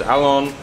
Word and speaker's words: Alon: His name is Alon. How do you pronounce it?